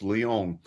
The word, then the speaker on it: Lyon: Technically, it's French, so it's Lyon.